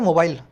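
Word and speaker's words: mobile: महंगा हो रहा है ये जो वर्ड है ना मोबाइल इसको अमेरिकन इंग्लिश में बोलते हैं मोबल ठीक है ये आइस होता है ना बीच में साइलेंट होता है तो अगर आप अंग्रेजी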